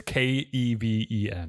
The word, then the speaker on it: Keven: Well, it's Keven. Yeah, but it's pronounced just Kevin.